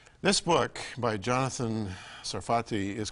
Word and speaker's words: Sarfati: of the book and am I pronouncing your name properly is a safari safety sarfati sarfati in Hebrews sarfatis France all